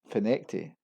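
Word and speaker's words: Findochty: And at number 9 we have Findocti. It's actually pronounced as Finecti.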